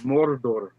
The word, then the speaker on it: Mordor: No, you didn't pronounce it right. Mordor.